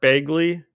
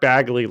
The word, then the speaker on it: Bagley: Brian Michael Bendis penciled by Mark Begley to Bear Bagley sorry thanks I uh no I want you to I will I will be annoyed if Mark Bagley listens to this episode